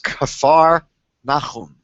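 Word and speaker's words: כפר נחום: I'm not sure how you pronounce it in English, but it's Kfar Nachum.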